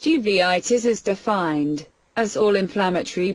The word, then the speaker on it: uveitis: also spread the infection uritis uritis pronounced uveitis is defined as all